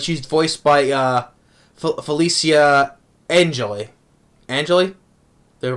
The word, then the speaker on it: Angeli: Angeli, they pronounce her name, which from also I remember her voicing.